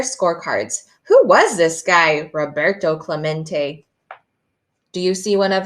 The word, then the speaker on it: Roberto Clemente: Robert, Clement? It echoed in the near empty stands. Roberto Clemente was his name, and this is pronounced Roberto Clemente.